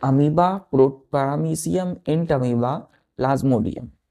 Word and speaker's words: Entamoeba: अब यहाँ ध्यान दीजिए, इसको हम कैसे पढ़ेंगे, वो यहाँ साइलेंट हो जाएगा, इंट अमीबा पढ़ेंगे।